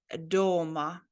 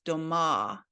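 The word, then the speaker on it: дома: This one is doma, and as you can see, it has the emphasis on letter O. So that means at home. Ja doma, I'm home. But if you put the emphasis on the last syllable on letter A, then it changes the meaning into houses. It is a plural of a house then. It is said doma.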